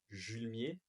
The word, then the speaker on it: Julemier: On se retrouve dans ce nouvel épisode de podcast avec Julmier, si ça se prononce bien comme ça. Parfait.